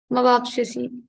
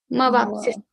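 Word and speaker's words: मवाप्स्यसि: We don't have pink lines on va. Mavapsisi. Po, sa, yo. Three letters are there, and that's why we are not putting a ghat on va. Mavapsisi.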